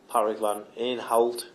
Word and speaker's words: Patrick van Aanholt: And on the subject of cover, Patrick van Aanholt, I think is how you pronounce it.